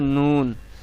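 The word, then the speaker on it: نون: সামনের উপরের দাঁতের মাড়ির সঙ্গে লাগিয়ে উচ্চারণ করবেন লাম, লাম, লাম। এরপরে 9 নম্বরে আছে নুন।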